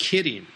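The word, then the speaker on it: 麒麟: By the way, in Japanese, the word qilin is pronounced kirin, just like the bear.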